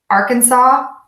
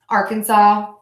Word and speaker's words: Arkansas: that final us just like we do not pronounce the final F in my current state of Illinois so let's try this again Arkansas excuse me Arkansas Arkansas Arkansas Arkansas Arkansas all right and moving right